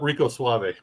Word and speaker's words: Rico Suave: Just look up Rico Suave on YouTube. Pass. And make sure you roll your R.